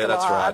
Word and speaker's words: Gillard: Oh, Gillard, yeah, Gillard. That's right. He made a good attempt at g'day that's as well. Right. Look, phonetically, the US briefers have really got to